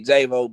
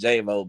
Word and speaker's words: JXYVO: It's basically JVO, but you know, it's another artist out there using my name. And so JXYVO Music. Yeah, I put the X there. It's still pronounced JVO, but you know, I